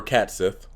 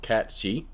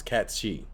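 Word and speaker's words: Cait Sith: read the dinner no begging director touristy or cats if which by the way I was actually looking up did you know that cats cats this name is actually pronounced cat Chi it's nae he's named after uh I forgot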